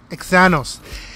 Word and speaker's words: Xanos: This all could not have been done without the help of producer Xanos. Kind of sounds like Thanos.